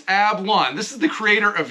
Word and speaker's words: Ablan: We are here today with Juan Ablan. I wrote it down and I said it wrong again. I'm looking at here. It's Ablan.